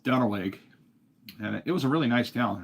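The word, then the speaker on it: Duenweg: it's looks like it's spelled Duna but it's pronounced dwig and it was a really nice town really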